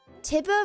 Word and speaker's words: Tiber: Tiber rhymes with Tiger.